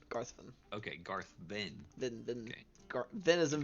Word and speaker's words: Garvin: name was Captain garthin you said garthan spell it like Garth g-a-r-t-h then v i n Garvin okay Garth Ben then